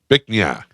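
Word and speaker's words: Bich Nga: Bic Na is a Vietnamese name. Beak is pronounced a bit like Beak. bic with a short I sound, almost like bit but with a K at the end. And Na is pronounced na.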